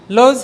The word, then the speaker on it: lose: লোজ হারানো, লোজ, লোস্ট, লোস্ট। এখানে লস উচ্চারণ করেন দেখি, ঠিক আছে?